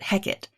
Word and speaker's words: Hecate: in the play though in shakespeare they usually pronounce it heck it i'll be honest i